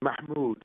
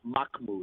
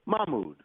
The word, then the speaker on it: Mahmoud: God's good name is Mahmoud with a hot age kind of like when you burn your fingers Mahmood mokmou there's no hard key in there like when people say